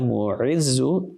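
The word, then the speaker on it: المعز: And Ya Mu'izzu, there's an ayn there.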